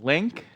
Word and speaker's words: LINQ: processing declarative programming and Link that's right these four letters here l-i-n-q are pronounced link and as with most